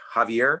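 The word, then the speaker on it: Xavier: In Spanish, that's pronounced like an H, Javier.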